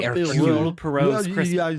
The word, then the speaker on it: Poirot: Hercule Poirot's Christmas.